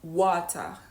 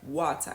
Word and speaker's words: water: A British native speaker is more likely to say water, right? Water, and really pronounce the T fully. While an American is more likely to say water, water, better, city, instead of city or better or butter, right?